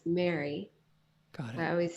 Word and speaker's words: Mare: And that's under Eve and Mary, and it's spelled Mare. So it looks like mare, but it's Mary.